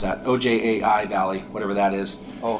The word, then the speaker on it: Ojai: It was a study done in California, kind of in Ventura County, and specifically focusing on, I can't even pronounce that, OJAI Valley, whatever that is.